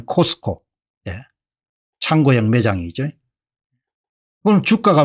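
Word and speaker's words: Costco: 같은 데를 좋아하지 않습니까 그 사람들은 카스코라고 발음하지 우리는 코스트코 창고형 매장이죠 오늘 주가가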